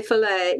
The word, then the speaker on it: fillet: cracked up over that we say fillet yes the T is silent in case Ricky doesn't